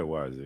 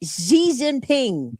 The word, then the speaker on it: Xi Jinping: Kim, is it a Z? Xi Jinping. Xi Jinping, yeah. I was close. X is a Z? Whoa. Yes, for our purposes. Anyway, Xi Jinping met President Trump last year.